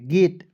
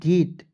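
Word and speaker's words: gate: इसी का उच्चारण करेंगे ए के रूप में। गेट जी ए टी ई गेट।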